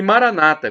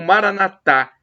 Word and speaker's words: Maranata: E Maranata, como dizem os protestantes evangélicos, com a tônica na penúltima sílaba, ou Maranatá, como dizemos nós católicos.